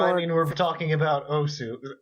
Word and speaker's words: osu: Well, I mean, we're talking about Osu. I know it's supposed to be pronounced us, but no, Osu. It's okay.